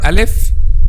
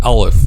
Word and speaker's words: Alif: It's called Alif, because there is a common mistake in pronouncing the name of this letter and saying Alif. This is one of the common mistakes among non-native Arabic speakers. They make lam heavier. Not heavier, it's make it heavy, because heavier than what?